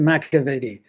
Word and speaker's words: McEveety: Um I got to be friendly with him and I pronounce it Macavity.